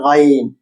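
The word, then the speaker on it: غين: আইন আইন আইন আইন এবার এটা দেখতে আইনের মতই তার উপর একটা ডট আছে উচ্চারণ গলার ভেতর থেকে ঘ বাংলা ধ্বনি ঘা গা গলা দিয়ে বর্ণনা দেখতে আইন আইনের মতই কিন্তু তার উপর একটা ঢার কারণ এটা হচ্ছে গাইন আপনিও পড়ুন আপনিও পড়ুন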